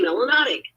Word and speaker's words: melanotic: melanin in your system you must be melanotic which rhymes with exotic and is in the